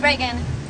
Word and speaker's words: Regan: Yeah, at Regan, it's Regan. Like the president. Like the president's not spelled like the president, but that's how you say it.